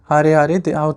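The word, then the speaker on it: Harare: Zimbabwe so Zimbabwe the capital is har okay har that's how to say it and Zimbabwean dollar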